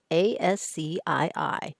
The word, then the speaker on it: ASCII: was a competing standard called ascii yes you pronounce a-s-c-i-i as ascii and it stands for the american